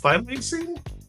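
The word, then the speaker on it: thylacine: Phileacing.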